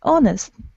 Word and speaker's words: honest: it's followed by the oh oh nest yes honest honest but that 23 you say hospital you are pronouncing that but is the same we do